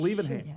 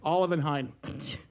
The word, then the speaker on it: Olivenhain: Liebenhain. Say it again. A Liebenhain. What did you say? Olivenhain.